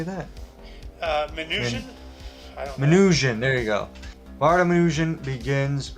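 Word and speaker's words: Minujín: manuh how do you say that uh minutian minutian there you go bartominujin begins redistributing books from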